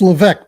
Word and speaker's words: Leveque: It's Leveque, by the way. So it's that French thing that gets in the way all the time.